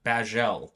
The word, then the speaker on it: Bajzelle: Bajel. Yes. Which is like bagel, but it's not really.